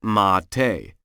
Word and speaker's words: mate: America called mate spelled m a t but pronounced mate this tea can have up to 150 mg